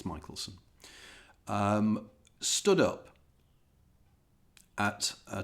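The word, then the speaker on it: Michelson: by the name of Albert Mitchelson or Michaelelsson, I'm never quite sure how to pronounce it. I think it's Michaelelsson.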